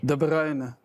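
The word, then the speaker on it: De Bruyne: De Bruyn.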